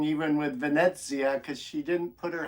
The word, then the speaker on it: Venezia: the kind of Venezia I've been saying it wrong and I'm trying to retrain my brain it's Venezia and it's mostly Z with a tiny little bit of tea in there so I'm working on it and it's an uh